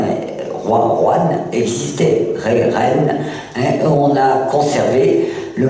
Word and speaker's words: reine: illogique de la langue, on dit reine. On ne dit pas roine, qui existait pourtant. D'accord, le terme roine est. Roi, roine existait, ré, reine, hein, on a conservé